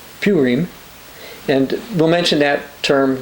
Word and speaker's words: Purim: Esther is read during something they call the Feast of Purim, which is actually pronounced Purim, and we'll mention that term later when we go in the book.